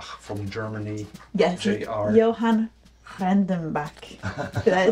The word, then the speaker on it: Johann Rendenbach: Of course, JR stands for Johann Rendenbach, which is German, and I taught her how to pronounce that. Johann Rendenbach from Germany. Yes. JR. Johann Rendenbach.